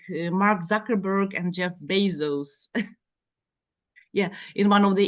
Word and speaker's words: Bezos: Jeff basos said that many people do mispronounce my name and said he said well it should be pronounced like this Jeff Bezos this right from his